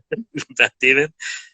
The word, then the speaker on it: Beth Demmon: I don't know if you know her, Beth Demon, I think her name is. Yes, that is the correct pronunciation. Beth Demon.